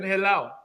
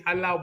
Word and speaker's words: Halal: yesterday he was saying he said it wrong bacon hello but it's supposed to be Halal bacon so I believe that